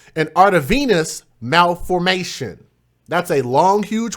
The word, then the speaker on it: arteriovenous: Arteriovenous.